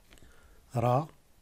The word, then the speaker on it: ر: Ra, ra, ra. On ne peut pas dire ra, non, parce qu'il y a une autre lettre qui est reine, qui se prononcera. Ici en arabe, c'est ra.